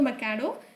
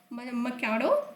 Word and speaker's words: Machado: Next we are moving on to Nobel Peace Prize winner called as Maria Corina Machado or Machado. So you can pronounce it in both the ways. Venezuelan opposition leader, namely Maria Corina Machado, presented her Nobel Peace Prize medal to the President Donald Trump.